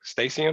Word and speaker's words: Stacy: uh matt stacy and am i pronouncing your name correct stacy you got yep and i had